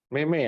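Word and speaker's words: 妹妹: adik，妹妹啊，妹妹，妹妹， Mei ya. Mei. Jadi huruf pertama dibaca sesuai nadanya, huruf kedua dibaca nada 5 ya.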